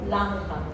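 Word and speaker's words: Langhans: llaman células gigantes multinucleadas tipo lanja así se escribe l Lan l a n g h gha tiene lanja lanja dice célula gigante multiplicada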